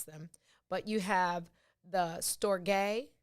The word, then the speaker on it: storge: i listened to several variations of how to pronounce them but you have the storge spelled s-t-o-r-g-e which is an empathy bond like